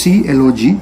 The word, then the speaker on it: clog: the last one is clog which is pronounced as c log and this is used